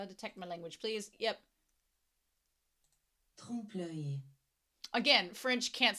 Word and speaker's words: trompe-l'œil: Trompe-l'œil.